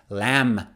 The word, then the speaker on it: lamb: the next one is lamb lamb last night we had roast lamb for dinner it was delicious lamb not lamb or climb climb right